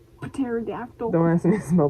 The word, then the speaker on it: pterodactyl: pneumonia i don't know it's like pterodactyl p is silent pterodactyl pterodactyl don't ask me to